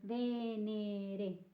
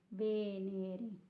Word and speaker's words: Venere: You can practice your pronouncing your E with this word, Venere, Venere. Then it moves away from